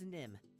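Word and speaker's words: Nimh: Yeah, it's Nim. There's an H on the end, but don't worry if you spell it wrong.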